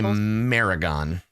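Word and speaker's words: merregon: It is a Maragon. How do I spell that? Rhymes with tarragon.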